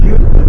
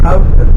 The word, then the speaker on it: Houston: I know it looks like you would pronounce it Houston, but it's Houston.